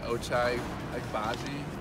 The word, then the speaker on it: Ochai Agbaji: I want to say Ochai Agbaji.